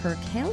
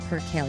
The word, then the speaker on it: percale: With Bowling Branch's bestselling Perale sheets, I never knew how to pronounce that. It's percale.